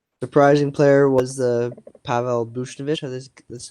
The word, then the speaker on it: Buchnevich: Surprising player was the Pavel Buchnevich. That's how to pronounce his name.